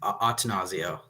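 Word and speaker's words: Attanasio: When Atanasio, by the way, what's the exact pronunciation, Ben? I believe it's just Atanasio.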